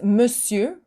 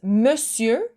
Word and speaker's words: monsieur: is monsieur. So here it's tricky. It's spelled completely different from how you pronounce it.